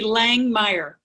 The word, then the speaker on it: Langemeier: So it's actually Langemeier. Langemeier, Langemeier. It's like to Langemeier. The Yes. E silent, and it's German.